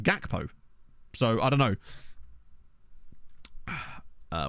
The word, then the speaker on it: Gakpo: podcast and they were arguing about the pronunciation of Cody gpo's name about how it's supposed to be HAPO but then isn't his name not a Dutch name isn't it believe garan his name so it just seems odd that you would then I guess if you he is Dutch but I I've heard him pronounce his own name as gakpo so I don't know